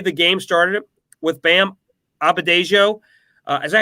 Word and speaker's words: Adebayo: I did love the way the game started with Bam Adebayo. Is that how you say it? I can't say his name. Adebayo.